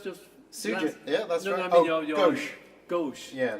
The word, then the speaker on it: Ghosh: pronounce this secret yeah gauche yeah like the French for left oh it's not spelled